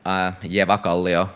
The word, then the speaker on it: Eväkallio: So follow me on Twitter, Eväkallio, that's how you pronounce it, just in case you were wondering.